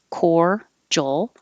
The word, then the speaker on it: cordial: most everybody will connect the word cordial looks like this but sounds like this core joel and cordial lan will